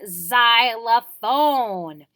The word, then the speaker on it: xylophone: doesn't quite sound like it starts with the X but it does it's just another sound for the Z and the Y together in xylophone kind of give it that sound but we can